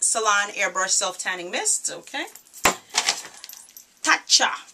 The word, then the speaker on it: Tatcha: Tatcha. That's how I pronounce it. T-A-T-C-H. Tatcha.